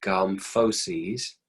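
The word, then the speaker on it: gomphoses: subcategory of fibrous joints that's pronounced gum foe C's gon ph o SES this is basically the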